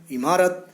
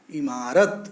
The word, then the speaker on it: इमारत: दोनों शब्दों में से दूसरा शब्द इमारत जिसने की छोटी की मात्रा है और पहले वाले में की बड़ी की मात्रा है वह स्वयं और दूसरा वाला शब्द इसका शुद्ध उच्चारण है इमारत बिल्कुल सही है इसका सही उत्तर